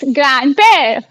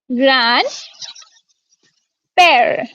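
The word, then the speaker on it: grand-père: यस, ग्रैंड पेर। Very good. ग्रैंड पेर। Okay, ग्रैंड पेर।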